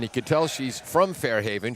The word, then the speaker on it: Fairhaven: Played her high school sports at Fairhaven, and you could tell she's from Fairhaven. She pronounced it Fahaven.